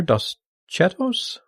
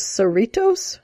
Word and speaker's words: Cerritos: Since I don't watch this show, I'm going to guess on the pronunciation here, Dos Chetos as the first one, and the second one, Shades of Green. As I said, not watching. It's Dos Cerritos.